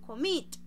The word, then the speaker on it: commit: consonante vamos a mirar yo digo commit significa que la fuerza de la entonación la estoy haciendo en la segunda sílaba por eso tengo que